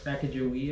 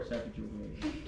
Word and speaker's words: Sacagawea: Sacagawea or Sacagawea? Tomato. What? Okay. It's different pronunciations for the same person.